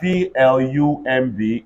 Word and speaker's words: plumb: I have PLUMB, everybody say plum.